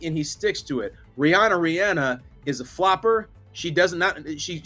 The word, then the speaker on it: Rihanna: find the clip and it's clear as day Rihanna I go now to the master linguist who has the easiest name to pronounce in maybe in the history of mankind